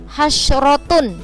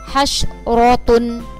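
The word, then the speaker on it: حسرة: Yang pertama, ro' berharokat fathah atau fathatain. Jadi ro' yang berharokat fathah atau fathatain itu cara membacanya tebal atau tafkhim. Contohnya adalah hasyrotun. Nah, ini yang berharokat fathah, jadi ro-nya harus dibaca tebal.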